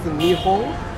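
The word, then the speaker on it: 日本: We pronounce this as Nihon, which means Japan.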